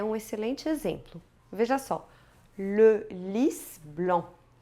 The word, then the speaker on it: Le Lys Blanc: Neste caso, nós vemos que tem que pronunciar o S no final de lys. Inclusive, fleur de lys é um dos símbolos da França. Então se diz lys, com S no final, né?